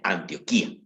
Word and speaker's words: Antioquía: No confundir con Antioquia. Antioquia es un departamento de Colombia. Esta se pronuncia Antioquía, ¿de acuerdo?